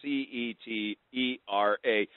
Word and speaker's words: Cetera: It's Cetera. It's sometimes it could be et cetera, but it is Cetera is how we pronounce it within our company.